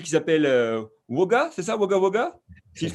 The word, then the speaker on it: Wagga Wagga: tu viens donc d'Australie, donc d'une ville qui s'appelle Wagga, c'est ça, Wagga Wagga, si je prononce bien?